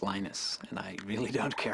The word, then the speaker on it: Linus: I speak Finnish it's lenus when I speak English it's Linus and I really don't